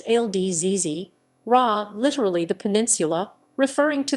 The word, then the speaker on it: الجزيرة: Al Jazeera English AJE Arabic, al-jazīrah romanized, Al Jazeera, pronounced al-jazīrah, literally the peninsula, referring to the Qatar Peninsula, is an international 24-hour English-language news channel owned by the Al Jazeera Media Network.